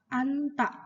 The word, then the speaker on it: 앉다: anta, duduk. Bacanya anta ya, bukan 앉다. anta.